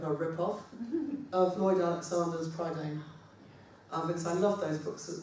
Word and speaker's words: Prydain: And the Prydain novels, I'm not quite pronouncing that correctly, it's Prydain actually. Spot the person who's just started to learn Welsh.